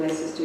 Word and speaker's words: Leicester: Gallery Studies from the University of Leicester in Leicester, UK.